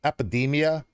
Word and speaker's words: Эпидемия: And they're called and pronounced Epidemia, means pandemic, and they are active from 1998.